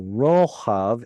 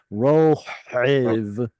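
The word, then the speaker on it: רֹחַב: So gutturals prefer ah sounds over s sounds. So rohav instead of rohiv, which is harder to pronounce.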